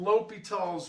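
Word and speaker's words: L'Hôpital: called indeterminate forms and l'hopital's rule looks like the hospital or something but it's pronounced l'hopital and that's just the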